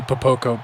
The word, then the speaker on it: Popoko: Popico. I think I said it right that time, but I like Popcorn better, so. It's actually Popoko, but.